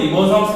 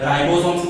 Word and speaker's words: ribosomes: Actually इसको हम रिबोसोम्स भी बोल सकते हैं, राइबोसोम्स भी बोल सकते हैं। हाँ, कई फैकल्टी उसको रिबोसोम बोलेगी, कई फैकल्टी राइबोसोम्स बोलेगी, वो मैटर नहीं करता। बायोलॉजी में कई बार प्रोनाउंसिएशन में थोड़ा सा डिफरेंस रहता है, पर हम लोग बोलेंगे रिबोसोम्स।